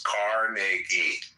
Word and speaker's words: Carnegie: for his employees far more than I respect Carnegie or Rockefeller. They were very men. Okay. So, well, pronounce his name right. It's Carnegie.